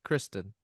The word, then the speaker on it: Kristen: Kirsten or Kristen? Kristen. But yeah, if you got her name wrong, that'd be worse.